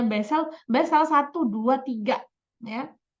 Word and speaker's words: Basel: itu diatur dalam wesel Basel tulisannya bacanya bezel salah satu dua tiga